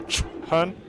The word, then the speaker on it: Chhun: So so to answer Lefty's question, I think it's pronounced Chun. So you actually pronounce both H's. You go Chun. And that's the correct pronunciation.